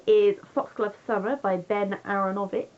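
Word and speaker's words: Aaronovitch: Number 3 is Foxglove Server by Ben Aronovich. Aronovich?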